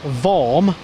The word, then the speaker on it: Worm: that it was form I'm not warm as everybody said yeah it's correct it's the German pronunciation of the name there's a city called